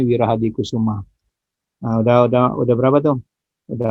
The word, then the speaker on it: Wirahadikusuma: Mohon maaf tulisannya, itu bacanya Wirahadikusuma.